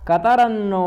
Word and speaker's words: कतरन्नो: ठीक है, सामान्य शब्द था पर मैंने उसको अलग क्यों किया, क्योंकि लोग कतरन्नो गरीयो कर देते। तो कतरन्नो में आप उस तकार को हलंत कर रहे हैं, कतरन्नो गरीयो, ठीक है।